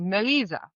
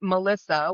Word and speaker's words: Melisa: But the first name, the way it's actually pronounced, the way I would have it pronounced is actually Melisa. But nobody's going to say that. When they see the name, they would say Melissa, which I do not prefer at all.